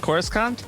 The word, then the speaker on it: Coruscant: my room you're above coruscant thank you uh no i'm liking the viewing window uh it's pronounced coruscant thank you oh my